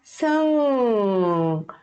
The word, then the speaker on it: 승객: Então, esses 받침 a gente não vai pronunciar, a gente vai só prender aqui na garganta, ok? Fica 승객, 승객.